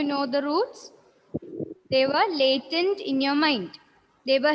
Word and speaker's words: Latent: Latin learning. Latent learning. It's pronounced like that.